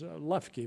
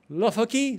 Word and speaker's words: Loeffke: And the Chinese have a hard time pronouncing my name. My name is Lufki, but it's a difficult name. It's difficult to spell it. So Chinese says, Lukaki, Lui, how do you want